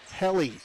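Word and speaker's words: Helle: And H E L L E is pronounced heli. Heli. Okay. Long at the end. Long E there according to uh some of our viewers.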